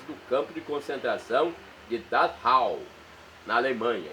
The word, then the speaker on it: Dachau: campo de concentração de dhau na Alemanha escreve-se dachau mas a pronúncia é dahau n na Alemanha então